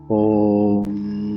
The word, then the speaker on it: ओम: इसमें हम 2 शब्दों का उच्चारण करेंगे एक्सेल करते समय। पहला ओ और दूसरा मा। ओ को हमें 2 से 3 सेकंड तक ही उच्चारण करना है। उसके बाद मा को जितना देर तक आप एक्सेल करेंगे पूरे उस टाइम तक आपको मा का उच्चारण करना है, कुछ इस तरह से।